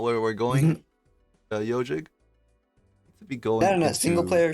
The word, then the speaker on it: Ezhik: I think Ziki, but it is pronounced Yo Jig.